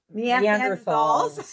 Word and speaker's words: Neanderthal: Neanderthals.